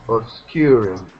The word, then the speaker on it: obscured: Obscured. Yeah. And then annunciate the D. D. So obscured. Obscured.